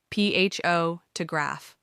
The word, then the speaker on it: photograph: For instance, in the word photograph, the stress is on the first syllable, ph to graph.